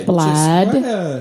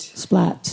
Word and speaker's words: Splat: Just Splad. what a treat. Splat. Did you just call me Splad?